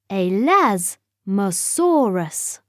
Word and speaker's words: Elasmosaurus: are like flat plates how do you say it elasmosaurus say a las masaurus it is quite dark under